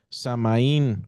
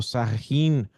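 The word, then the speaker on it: Samhain: honraban a su Dios samaín o sahin diferentes personas lo lo pronuncian diferente pero este era el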